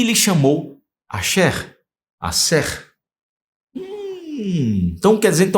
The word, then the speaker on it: Aser: Quem foi Axé? Axé, olha aí. Ou Asser. Axé, vamos lá do lado, tá aqui do lado. Asher, tá aí a pronúncia certinho.